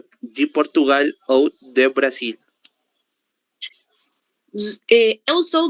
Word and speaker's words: Portugal: Temos aqui duas palavras com a letra L no final da sílaba. Se ela está no final da sílaba, ela vai ser lida como se fosse a letra U. Portugal, Brasil.